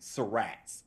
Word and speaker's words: Surratt: I think that both are acceptable, but that is interesting for me to know that that's what the locals say.